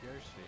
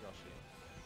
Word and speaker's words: Yoshi: Yeah, and it's Yoshi, not Yoshi.